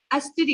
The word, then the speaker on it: अस्त्री: घर की मानन अस्त्री, घर की मानन स्त्री, स्त्री नहीं अस्त्री ऐसे प्रोनाउंस करना है हमें।